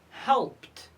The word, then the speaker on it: helped: Helped, helped. So we pronounce ed t because it's preceded by p.